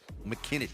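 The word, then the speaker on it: McKinney: McKinn, Texas. You have to say it like that.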